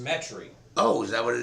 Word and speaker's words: Metairie: Pronounced Metairie.